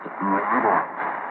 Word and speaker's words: moderate: And for this usage, it is pronounced moderate.